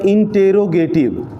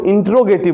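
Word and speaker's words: interrogative: दूसरा को क्या बोलते हैं, इंटेरोगेटिव। इंटेरोगेटिव, हाँ, इसका कई लोग गलत उच्चारण करता है, इंट्रोगेटिव बोलता है, इंट्रोगेटिव नहीं, इंटेरोगेटिव। हाँ, इंटेरोगेटिव।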